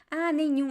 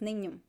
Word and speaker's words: nenhum: Nenhum. Okay, I got it. I'm going to write here in the comments. Nenhum. Nenhum. nenhum, nenhum. It's a nasal sound at the end.